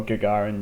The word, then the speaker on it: Gagarin: immediately our parents play a ganger in deep space tech or Gagarin deep space tech I believe it has been revealed to me is the correct pronunciation I will say good